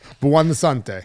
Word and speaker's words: Buonsante: Buante.